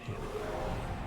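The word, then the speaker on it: H'aanit: So we're closing in on Hanet's hometown. Or is it Ha'anet? I'm not sure. Nah, they pronounce it Hanet.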